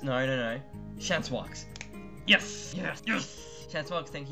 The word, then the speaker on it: Chancewox: We have, I'm not going to say, I can never pronounce his name, Xans. No. Chancewox.